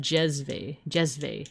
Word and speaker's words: jezve: Like I love to make Turkish coffee in a stovetop in a copper jezve, pronounced jezve, and drink it in tiny cups.